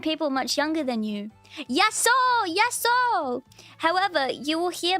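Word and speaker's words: Γειά σου: Pronounce it yaso. This phrase is best suited for informally saying hello to one person. Say yaso, pronounce it yaso.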